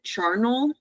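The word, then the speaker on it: Charnel: to the audio book, they pronounce it Charnal.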